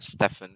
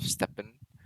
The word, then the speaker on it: Steppen: i'm saying it right i'm saying stefan instead of steppen but anyway mr wolf